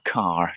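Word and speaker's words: Kerr: may be pronounced um if you think of the actress uh deborah uh deborah carr deborah carr um you can see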